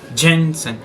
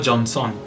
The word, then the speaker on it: Jensen: Jensen. C'est pas Johnson, non.